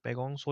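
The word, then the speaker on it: Pangong Tso: अब वहां पे लेक जो है उसका नाम है पैगोंग आइसो पैगोंगसो लेक पैगोंगसोर यहां पे टी जो है साइलेंट है।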